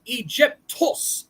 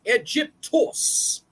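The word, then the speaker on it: Αἴγυπτος: of the first settlements the word Egypt is of Greek origin and originally pronounced egyptos egyptos the capital of Egypt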